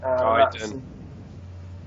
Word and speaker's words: Gaiden: I mean, whether you want to pronounce it Gaiden or Gaiden. Gaiden.